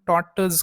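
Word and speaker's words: tortoise: टी ओ आय एस आता याच pronunciation आपण टॉटज करतो आरचा उच्चार आपण करत नाही आता टॉटस म्हणजे काय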